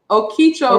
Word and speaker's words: Okeechobee: Okeechobee.